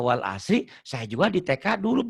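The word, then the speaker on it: والعصر: Wal asr. Innal insana lafi khusr. Jangan hus. Berapa banyak ustadz katanya ustadz. Bacanya wal as. Innal insana lafi khus. Salah. Wal asr.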